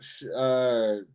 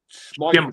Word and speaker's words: Schimmel: So going on to a VIP match, Ryan Schmeichel. Schimmel. No, sorry, Schimmel. Schimmel. Sorry for pronouncing the like the name wrong. I was going to say Schmeichel, but then I realised that's not how you pronounce it.